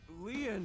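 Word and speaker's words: Lin: stay by your side my name lean is spelled l i n in French lean means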